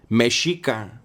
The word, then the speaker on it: Mexica: And when you look at how it's spelled Mexico. But the X's are an SH sound, right?